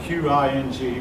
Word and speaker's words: Qing: That's spelled Q-I-N-G, but pronounced Qing.